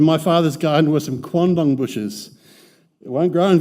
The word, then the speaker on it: quandong: In my father's garden were some quandong bushes.